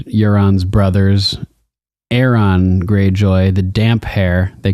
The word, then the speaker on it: Damphair: It's funny, in the audiobooks, Roy Dotrice mispronounces it. He calls him the Damphare. Damphare, because Damphair. He misread funny. The P and the H as a F sound instead of separating them as two, like they were two words combined, damp hair.